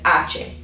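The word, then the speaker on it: hache: that's how you say the letter name is ace okay fun fact is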